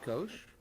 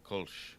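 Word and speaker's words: Kölsch: So is it pronounced Kosh? Yeah, Kolsch.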